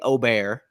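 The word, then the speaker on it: Åberg: of DraftKings we have Ludwig obear is how we're going to pronounce it Steven Yeager Eric Cole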